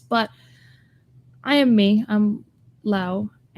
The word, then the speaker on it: Lau: excuse me, Laura, but you go by Law. Am I pronouncing it right? Lao, but it's Lao. okay. I understand that Americans and English speakers say it like Laura, but in Spanish is Laura, so it's Lao.